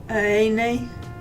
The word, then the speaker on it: araignée: The pronunciation, you don't put the R and the G. Araignee. I don't do well at other accents, okay?